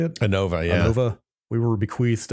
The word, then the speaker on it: Anova: Anova, yeah.